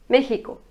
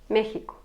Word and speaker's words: México: Mais on ne prononce pas X tel quel. On prononce comme hi. México, México.